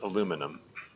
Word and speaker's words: aluminum: It's interesting. The spelling and the pronunciation of that word are different between nations. Like in the U.S. and Canada too. Really, it's pronounced and spelled aluminum. Like the second I is absent.